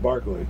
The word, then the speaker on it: Berkeley: But it's pronounced Barkley.